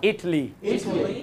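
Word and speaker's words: Italy: পরেরটা USA, Spain, Spain, Sri Lanka, ইটালি, ইটালি। Good. এটা বলেছিলাম আমি ইটালি, তাই না? এটাকে সাধারণত আমরা ইতালি বা ইটালি বলে থাকি। আচ্ছা একদম পেছনে, হ্যাঁ এটার উচ্চারণটা কি বলেছিলাম? ইটলি। আবার ইটলি, আবার ইটলি।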